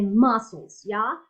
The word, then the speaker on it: muscles: So the muscles, is the same rule, You don't cannot pronounce the C, okay?